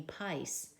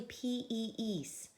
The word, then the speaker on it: piece: the rules the long one is not the sound we do otherwise it would be Pais but it's actually PE eise do you think that's short or long e PE ee ya piece is a long e now if I